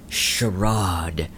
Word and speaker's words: Charade: Okay, so coming at number 6 is the great Charade. That's how they pronounce it in the song. So that's, when in Rome. I mean, charade, charade, whatever.